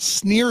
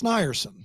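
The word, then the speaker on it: Snierson: It's not s neso n i e r s o n. Dan, you know him. So it's not sneer. It's snerson.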